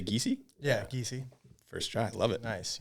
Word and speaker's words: Giesey: Yeah, Giesey.